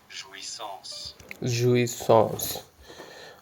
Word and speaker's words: jouissance: physical or intellectual pleasure let's say it all together. Ju son. Okay. Ji like son. Okay. So this is how it uh you pronounce it.